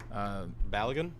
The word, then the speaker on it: Balogun: How you pronounce his name? Work on that. Who's that? Balogun.